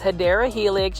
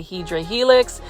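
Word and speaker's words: Hedera helix: the HRA helix or the correct way to say it is hyera Helix you already know plant fies I had to say hedra Helix cuz you guys love hedra Helix um or English ivy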